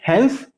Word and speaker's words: Hans: इसको कैसे प्रोनाउंस किया जाता है? हैंस, HENS है, HANS, हैंस लिपर्स है, ठीक है।